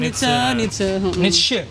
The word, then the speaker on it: Nietzsche: Oh, Nietzsche itu mengatakan Nietzsche, bacanya tuh Nietzsche.